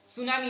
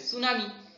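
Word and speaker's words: tsunami: কুসংস্কারের জন্য বা অন্ধবিশ্বাসী সুনামি দেখেন এখানে টি এর উচ্চারণ হবে না কিন্তু বানানে টি থাকবে সুনামি তারপর আমরা টিউশন বলি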